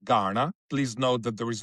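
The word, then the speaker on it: Kaurna: Nalu Tampinti Garna means Garna, K-A-U-R-N-A, pronounced Garna.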